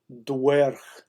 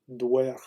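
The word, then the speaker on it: dweorh: The Anglo-Saxon, the Old English pronunciation was dwerh. Dwerh.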